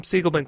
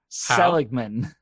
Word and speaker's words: Seligman: it's pronounced which is seligman selumen selig men selig look look look look at the name the l is before the g brian what did i